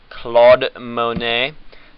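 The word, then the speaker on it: Claude Monet: accomplishment was this amazing beard okay CLA Monae pronounced Claude Monae lived from 1840 to 1926 and he is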